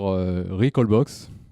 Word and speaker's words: Recalbox: à tous alors alors déjà on prononce voilà c'est juste pour les puristes souvent on aime bien dire recall box plutôt qu'heureux call box c'est juste un petit